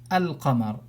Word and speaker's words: al-qamar: Wal qamar, let's forget the waw, and if I start from al-qamar, I will pronounce the lam, because this is something which is telling me that the second letter has a fatha on it, so it's a haraka, al-qamar.